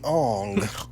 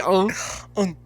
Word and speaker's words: Aang: Well, it wouldn't be Aang, it would be Ong. All right. It'd actually be Ong. Sorry, it's not pronounced Aang, it's pronounced it's pronounced Only you can save us.